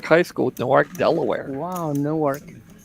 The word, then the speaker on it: Newark: yeah Class of 84 new ark High School Newark Delaware wow Newark no Newark is in New Jersey new ark is in Delaware new ark new ark the way it's spelled look newk yeah you